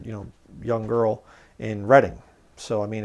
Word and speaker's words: Reading: book long lost friend was published first in Reading Pennsylvania it's not reading it's spelled like reading but it's pronounced reading if you're from the